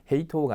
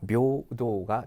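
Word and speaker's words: 平等: 헤이라고 있습니다 헤이라고 있는데요 평등은 두 개가 다 예배 발음이 일어납니다 그래서 헤이가 아니라 배우가 되고요 그 다음에 토우가 아니라 노후가 됩니다 그래서 평등의 읽기는 헤이토가 아닙니다 묘도가 된다는 거 주의하시면 되겠습니다 그다음 3번 문제 보시면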